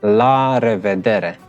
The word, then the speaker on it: la revedere: And then the third one is la revedere. Now this is a mouthful, especially for Asian people. It's really a mouthful. So I'm gonna say it again. La revedere.